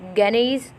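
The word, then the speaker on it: Gagné: अच्छा लगा है, वो गानीज़ फ्रेमवर्क फॉर इंस्ट्रक्शनल डेवलपमेंट है। कुछ लोग उसको गाने भी पढ़ रहे थे, तो आपको जिस तरह समझ आए आप वैसे कर लीजिएगा, ठीक है।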